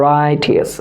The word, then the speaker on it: righteous: আমাদেরকে কি করতে হবে, আমাদেরকে বলতে হবে রাইটিয়াস, রাইটিয়াস, রাইটিয়াস, রাইটিয়াস, রাইটিয়াস, রাইটিয়াস, রাইটিয়াস। ওকে, ক্লিয়ার? তাহলে বানানটা একটু খেয়াল করে না তো, আমি আবার